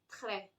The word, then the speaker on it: très: So if I say, if I had to use this word, which means very, I say très, très, très bien, something like that.